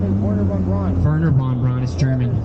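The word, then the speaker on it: Wernher von Braun: His name is Werner von Braun. Werner von Braun is German. You don't pronounce the W. Von Braun. Werner von Braun.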